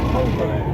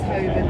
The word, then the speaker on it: Holborn: Two cheap roads call it Hoven, but I definitely call it Holborn. It is Hoven. I think it's supposed to be Hoven, but But there's an N in it, so there's Holborn.